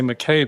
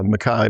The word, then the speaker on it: MacKay: Um he had mentioned that your name is spelled I would say McKay but you pronounce it Mai. Yeah, Mai. My father's Australian and they held on to the Scottish pronunciation.